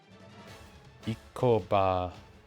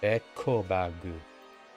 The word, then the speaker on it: エコバッグ: This is just E. Because, you know, if it looks like an I, it must be an E. Ikobagu. Ikobagu. エコバッグ Ekobag. I always pronounce the E wrong. Every single time. I wonder how many times I'm gonna keep doing it.